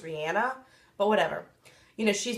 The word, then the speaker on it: Rihanna: my girl or she she said in an interview her name was actually pronounced Rihanna but whatever you know